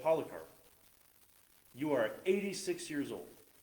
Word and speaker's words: Polycarp: name was polycarp a bunch of people say polycarp because it has a y but it's pronounced polycarp but it was 86 when he died he